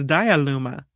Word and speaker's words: Diyaluma: The Diyaluma Falls. Almost like Petaluma, but it's Diyaluma.